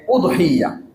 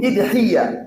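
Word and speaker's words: أضحية: সেখানে বলা হয়েছে কুরবানির শব্দটাকে 3 ভাবে উচ্চারণ করা যায়। 1 উদহিয়া, আলিফে পেশ দিয়ে। 2 ইদহিয়া, আলিফের নিচে জের দিয়ে। 3 দহাইয়া বা দহাইয়া, বিভিন্ন ভাবে পড়া যায়।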